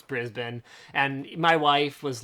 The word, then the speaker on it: Brisbane: or whatever okay yeah it's spelled that way but that's not how you say it and within moments of